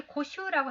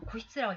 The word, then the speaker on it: 固執: 여기 고슈라고 하는 것은요. 고슈라고 읽습니다. 그런데 관용적으로는 고시즈라는 로 읽는 경우가 많아요. 선생님도 아마 이걸 보지 않고 이거 그냥 여기 고슈라고 한민이가 달아놨으니까 고슈라고 읽습니다만 고슈가 없이 그냥 선생님한테 읽으라고 그러면 고시츠라고 읽었어요. 고시츠. 원래는 고슈가 맞습니다만 이렇게 관용적으로 고시츠로만 읽어요.